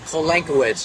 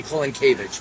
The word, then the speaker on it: Kolankiewicz: pronounce your last name colon Kuwait's is how I pronounce it and polish it would be calling cabbage but that's not where I grew up okay so one more